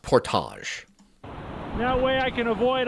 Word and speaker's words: portage: It's pronounced portage.